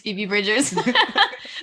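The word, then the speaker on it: Phoebe Bridgers: say it like barbs but it's feebie bridgers so definitely some more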